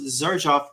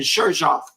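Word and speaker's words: Xerjoff: to tell me that I've been mispronouncing Zerjoff this whole time because I kept saying Sheroff.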